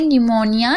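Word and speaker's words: pneumonia: जैसे कि आप देख रहे हैं यहाँ पर देखिए निमोनिया, यहाँ पर आप देख रहे हैं पी साइलेंट है, पी के बाद एन है, याद रखिएगा, इसीलिए साइलेंट है।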